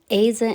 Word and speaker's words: either: Келесі either and neither есімдіктері. Either, either. Neither, neither. Either деп те оқылады, neither деп те оқылады. Өйткені біреуі америкалық, екіншісі британдық pronunciation. Қалай оқысаңыз да ол қате болмайды.